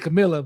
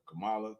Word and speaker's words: Kamala: but meanwhile nobody has even attempted to get Camila but Kamala Kamala I know I said the name wrong I butchered it yeah but uh like